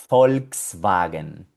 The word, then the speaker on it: Volkswagen: Y se llama Volkswagen. De hecho, aquí también tenemos la que acabamos de aprender anteriormente, la B corta que suena como una F. Volkswagen.